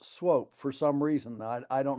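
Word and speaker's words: Swoope: I don't know what the background of that is, but normally two O's are oo, as you know, but in this case, the two O's are a long O.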